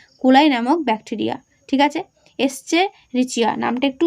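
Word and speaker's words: Escherichia: এস্চেরিচিয়া নামটা একটু উচ্চারণ করবে, এস্চেরিচিয়া কোলাই নামক ব্যাকটেরিয়া।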